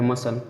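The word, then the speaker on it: muscle: ठीक है, यस का किया जाएगा, सी साइलेंट रहेगा, मसल।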